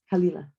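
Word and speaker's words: Caol Ila: how to pronounce it but yes kalila think of tequila um don't think of tequila don't think of tequila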